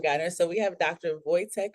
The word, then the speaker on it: Wojtek: And am I pronouncing it correctly? Is it Voytech?